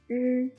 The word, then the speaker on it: r: The last one is r, r, just as r in right, but the shape of your mouth is not circle. It should be pronounced by curl the tip of your tongue backward and further.